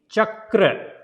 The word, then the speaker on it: Chakra: And here you will see Chakra, Chakra. So don't say Chakra, there is a single A. So it is a Chakra.